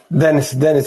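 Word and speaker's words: Denis: Dennis is just fine. Thanks. Single N, but you can pronounce it with as it was double N.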